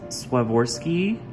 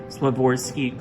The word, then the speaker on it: Swarovski: So what's also special about this doll is that she is adorned with Swarovski, I believe is how you say it, Swarovski crystals, which, if you haven't heard of that,